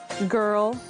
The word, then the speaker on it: girl: exceptions for example Oh words that are from German quite often for example girl we have the hard G or you have like proper names from Hebrew such as Gideon so just a couple